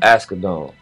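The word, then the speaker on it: Asghedom: Askedon.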